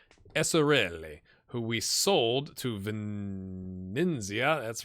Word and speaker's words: Venezia: So let's take a look at Fausto Esserelli, who we sold to Venezia. That's right. Venezia.